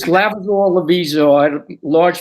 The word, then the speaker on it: Lavizzo: Did I pronounce that right? That's correct. Thank Are you you. sure? Correct me. It's Lavizzo Lavizzo.